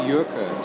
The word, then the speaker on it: Jurke: Yeah, look, it's actually Jurke. She's Flemish. Jurke, oh. So it's spelled like a joke, but yeah.